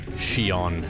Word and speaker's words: Xion: of the story there's a character called shion spelled s i o n x iowan rather she on xion so i probably